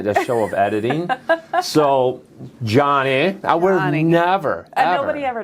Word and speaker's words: Joni: may have to redo it my name's actually pronounced Johnny oh is it really yep oh I'm not